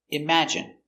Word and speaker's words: imagine: look at the pronunciation pronunciation imagine i m m a im J J strong sound J IM I imagine imagine imagine stress on the second syllable imagine imagine imagine imagine